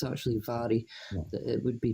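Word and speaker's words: Mhairi: Yeah, even she says after it, it's actually pronounced Vary with the Vary. M. But it's my base mate's Mari as well. She calls herself Mari, but it's actually Vary that it would be pronounced properly.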